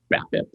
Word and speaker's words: BABIP: you have a high, was it BABIP? Is that how you say it? Batting average on ball and play. Yeah. Yes. BABIP. Hey, that's how you word that. That's how you say that.